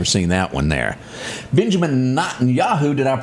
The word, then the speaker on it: Netanyahu: Benjamin Netanyahu, did I pronounce Close, Netanyahu.